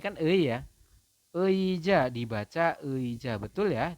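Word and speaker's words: 의자: Vokal ei dibaca ei jika terletak di awal kata. Awal kata itu awalan, teman-teman. Contohnya ini ya. Ini kan ei ya. Eija dibaca eija, betul ya, dibacanya adalah eija seperti itu teman-teman.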